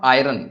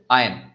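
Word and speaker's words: iron: इट इज नॉट आयरन, इट इज आयन।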